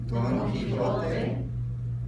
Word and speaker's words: Quijote: So, Juan, joven, jardín, joya, Don Quijote, caja, ajo, ojo.